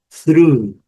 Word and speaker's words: through: Outra também, mais ou menos parecida com essa com TH, mas a pronúncia é totalmente diferente também. Through.